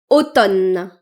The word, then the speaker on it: automne: Baphè et ce mot automne et pas automne. Automne. Automne. Le M est silencieux.